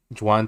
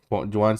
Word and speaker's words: Joan: it was written by Joan Sebastian how do you say it sounds like Juan but Jan whatever Sebastian